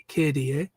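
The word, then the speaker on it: K/DA: about Kier uh I I pronounce it kada if night it's KDA um but I I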